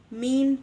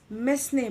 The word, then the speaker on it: mesne: will be discussing with you the concept of mean prophets section 2 surplus 12 of cpc many of you or many people in the legal fraternity they pronounce it as misnei prophets but that is a wrong pronunciation it